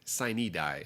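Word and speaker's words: sine die: to pronounce them but in a state where we've got cities like Prague in Miami I'm not surprised that we might say sunny die it is where we say signee die and not just sign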